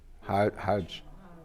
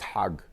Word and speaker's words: Hajj: as a Muslim Pilgrim Hajj but in Egyptian Arabic it's hag oh so I'm married